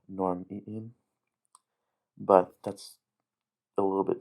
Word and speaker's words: norm'iim: Another thing interesting about normiim is its interesting pronunciation of the glottal stop on normiim, but that's a little bit too in-depth for this already really long video.